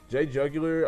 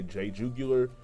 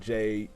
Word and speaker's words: JayJugular: I know a lot of people can say Jayjugular. It's not Jayjuoo, it's Jug. So just to everybody who can get like an insight on how to say it, it's Jug, not Jug.